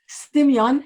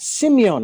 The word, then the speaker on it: Symeon: Now, It's not- you may correct me if I ever mispronounce, but it's Simon Shimin. Symeon Shimin. Simeon.